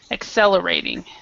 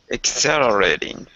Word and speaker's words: accelerating: miniatur miniaturization okay accelerating so the the stress is in the second paragraph and the and the second syllable and the the second and the fourth syllable accelerating accelerating perfect okay um RF